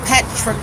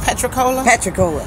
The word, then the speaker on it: Patricola: Is it pronounced Patricola? Patricola.